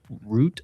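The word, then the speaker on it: Rutte: Also Trump is about to meet the NATO chief Mark Root I think is how you pronounce it. R U T um and talk with them.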